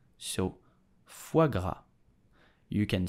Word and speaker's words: foie gras: So how do we pronounce it correctly in French with a typical Parisian accent? You will say foie gras.